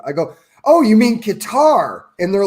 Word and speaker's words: Qatar: If I was to read it, I would pronounce it Qatar, but talking to all the Southerners in the military, it was Cutter.